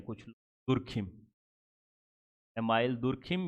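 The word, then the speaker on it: Durkheim: एक फिलोसफर हुए थे जिनका नाम था एमिल, या एमाइल भी कहते हैं कुछ लोग, दुर्खिम। एमाइल दुर्खिम या एमिल दुर्खाइम, दुर्खिम, बहुत सारे लोग अपने प्रोनाउंस तरह से करते हैं।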